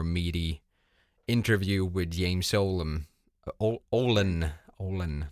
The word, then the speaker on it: Ohlen: Ohlen, not Olam.